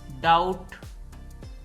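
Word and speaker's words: doubt: wise वरना certainly यकीनन डाउट दोस्तों यह ल डाउट है इसमें भी साइलेंट है डाउट शक डेट इसमें भी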